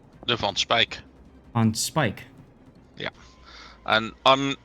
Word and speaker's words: Van Speijk: for a second and tell us how to pronounce please so we can learn um the spike on Spike the on Spike on Spike yeah and I'm not familiar with